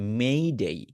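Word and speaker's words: May Day: দিবস কে বলতে যাই আমরা হয়তো বাংলায় লিখি মে ডে বলা হয় মে ডে বাট আসলে যখন আপনি ইংরেজিতে উচ্চারণ করতে যাচ্ছেন এটা মে ডে না এটা মেই ডেই মেই এখানেও বলবেন মেই আবার ডে তে গিয়েও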